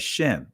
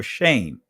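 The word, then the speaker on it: שם: In the Israeli language, they refer to this word, they pronounce it as Shem or shame, right? But Sham from an ancient Hebraic perspective, that's how you pronounce the word.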